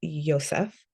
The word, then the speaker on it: Joseph: And then we have Joseph, which a closer pronunciation would be Yosef.